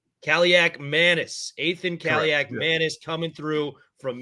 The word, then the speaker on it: Kaliakmanis: How do I pronounce his last name? I want to make it sure. Kaliakmanis? Kaliakmanis. Kaliakmanis.